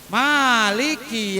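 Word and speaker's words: مالك: Malik. Bacanya ma-nya panjang. Maliki yaumiddin. Pak Ustadz, ada yang baca ma-nya pendek, Maliki. Ada enggak kira-kira? Ada. Maliki yaumiddin. Nah, itu ada dua bacaan. Boleh dibaca pendek, boleh baca panjang.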